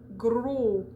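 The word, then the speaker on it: gros: sound in a word like stilo which is pen or uh gro so g-r-o-s s's and t's are silent at the end of those words okay and we'll get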